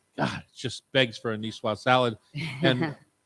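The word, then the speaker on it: niçoise: just begs for a nwas salad and or as Chef Terry would make me say nwas he said pronounce the S there uh uh that would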